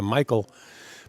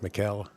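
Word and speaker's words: Mikael: pronounced here in America Michael but he spells it m-i-k-a-e-l uh Mikhail as they pronounce it over in Norway and you see Mr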